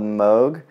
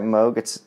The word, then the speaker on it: Moog: So this is by a company called Moog. I think I'm pronouncing that right, Moog. I don't believe it's Moog, even though it looks that way.